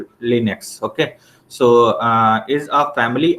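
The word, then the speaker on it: Linux: लाइनेक्स pronounced eight लिनक्स।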